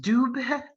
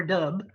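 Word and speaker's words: Dubhe: All the stars are whitish blue except for one, and it is pronounced Dub with the little suggestion of an E at the end, or Dub, depending on what you Google and whether you're talking to Merriam-Webster or whatever.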